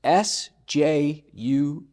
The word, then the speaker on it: Sjuts: It's S-J-U-T-S. Pronounce Sjuts. Yeah. The origin.